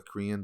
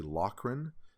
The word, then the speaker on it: Lochran: the uh locker lochren i keep saying the korean but it's actually lochren is how it's pronounced so i want to